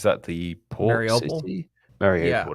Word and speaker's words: Mariupol: Mariupol, that's the pronunciation.